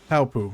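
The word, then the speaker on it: Paopu: Palpu. Yep, that's how you pronounce the star-shaped fruit from Kingdom Hearts.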